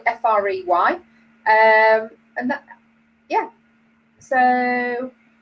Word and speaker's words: Frey: know that that was by glenn frye or frey i think we pronounce it fry frey um and that yeah